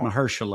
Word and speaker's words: Mahershala: I understand that, but again, in his 60s like Mahershala, is it Is that how you say his name? Mahershala.